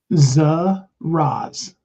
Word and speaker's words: Zaraz: Zaraz.